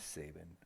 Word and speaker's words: Sabin: for his own freedom saban for sobbing i like saban saban to me is i've heard it pronounced different ways i yes his name is saban oh he looks so